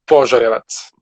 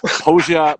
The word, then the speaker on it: Požarevac: It's Um, pronounced Požarevac. po, slower. Požarevac.